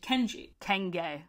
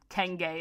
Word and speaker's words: Kenge: We are introduced to a new villain, a monitor lizard named Kenji. Kenge is how you say his name.